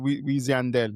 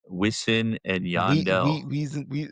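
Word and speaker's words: Wisin & Yandel: The American way you're saying it right, but like when it gets into the accent, Weezy Andel, Wis Weezy Andel, Wisin and Yandel.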